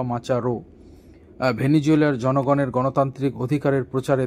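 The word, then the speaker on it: Machado: ভেনিজুয়েল মাচাদো বা মাচা হো আপনারা যেভাবে উচ্চারণ করবেন লাস্টে ডি ও রয়েছে মাচাদো বা মাচারো।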